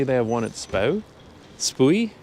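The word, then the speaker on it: Spui: have one at SPO spoy how do you pronounce that SP UI it should be like SP but I think it's SPO I think some people say spoy anyway they have one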